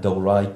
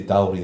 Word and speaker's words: Dalry: out with Scotland that can pronounce Gorgie correctly and Dalry correctly, as opposed to Dalry or Gogie.